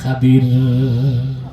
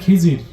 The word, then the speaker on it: খাদির: আসলে মূসা, তোমার চেয়েও বেশি ইলম আছে আমার এক বান্দা, তার নাম হযরতে খাদির। সুবহানাল্লাহ। আপনার নামটা ভুল বলেন খিজির, আসলে উচ্চারণটা কি? খাদির।